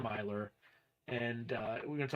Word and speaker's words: Miler: to uh return to John Miler I butchered his name I I was call him Miller the whole time and then I'm just an idiot so it's John Miler and uh we're going